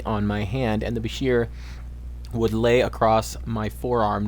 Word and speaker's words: Bashir: thought one of the Bashir pronounced like the name of the doctor in Star Trek Deep Space Nine and one of the